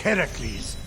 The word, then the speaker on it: Heracles: So, Fenyx, after boldly besting the Gorgon that ambushed Heracles.